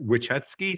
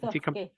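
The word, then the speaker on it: Wissotzky: Wichetsky, am I saying that right? Wysocki.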